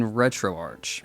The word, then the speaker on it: RetroArch: disable your controller in retroarch speaking of which I think it should be pronounced retro arch I guess I understand and it's archived but when you leave the CH there on first impressions playing the Dreamcast Capcom vs.